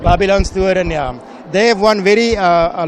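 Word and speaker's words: Babylonstoren: pronounce it? Okay, Babylon Storen. Babylon Storen, yeah.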